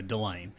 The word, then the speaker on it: Dylane: A lot of people say Dylan because it's spelled almost the same. So. Right. Yeah, I wasn't sure if the A is a long A or a short A,